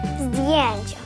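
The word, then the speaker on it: zdjęcia: Здіянча, фотографії. Навіть зразу і не вимови.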